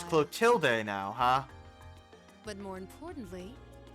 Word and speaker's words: Clotilde: Clotilde now, huh? But more importantly, who do we have here? Yeah, they changed the pronunciation of her name all the time. It's usually Clotilda.